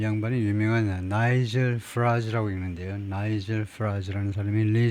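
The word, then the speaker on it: Farage: 예.이 이 양반이 유명한 나이젤 프라즈라고 읽는데요.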